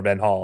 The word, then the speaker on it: van Gaal: He makes his debut under a great Dutch manager in Louis van Gaal, or Ben Hall, I guess technically is how it's pronounced, who is also instrumental in getting him to the Dutch national team.